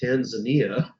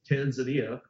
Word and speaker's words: Tanzania: a director telling me the way that I pronounced Tanzania, the country, Tanzania, was incorrect. And it should be Tanzania. And I said, no, nobody says that.